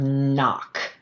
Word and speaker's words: knock: So let's think of the word "knock" right ? It's spelled with a k n but we only hear the /n/ sound right?